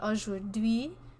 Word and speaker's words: aujourd'hui: So they actually ajour, and then you pronounce the D, aujourd'hui, and ajour.